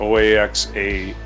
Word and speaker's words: Oaxaca: in San Pablo how do you spell up at that province of Mexico it's pronounced Oaxaca how do you pronounce that give me a